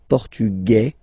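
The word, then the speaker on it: portugais: The Feminine form okay masculine portug you don't pronounce the S feminine form portuges you pronounce this z sound okay and then ESP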